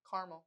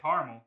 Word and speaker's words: caramel: Caramel. But you said caramel. Some people said caramel. Ah, there you go. Oh, and the fight continues. Who has the time? It's a whole extra syllable. That's where we're drawing the line.